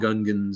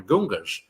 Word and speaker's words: Gungan: And freaking in the movie, like they call them Gungans and everything. They say it right, but even still, he would go, I'm the Gungas.